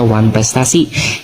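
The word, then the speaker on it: wanprestatie: Nah, istilah ini berasal dari bahasa Belanda asal katanya one prestatie. Dibacanya one prestasi yang berarti ingkar janji.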